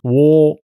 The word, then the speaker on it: 倭: It's pronounced wo.